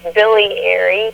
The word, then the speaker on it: Biliary: Pronounce that again. It's Biliary, Biliary.